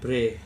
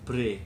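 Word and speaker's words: Bhre: Bre, dibacanya Bre.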